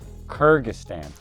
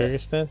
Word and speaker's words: Kyrgyzstan: Kyrgyzstan. Is that how you say it? Yeah. Kyrgyzstan?